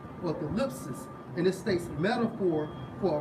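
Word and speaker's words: thlipsis: It's like Strong's G 2347 pronounced as thalipsis or thalipsis, and it states metaphor for oppression, affliction, tribulation, straits.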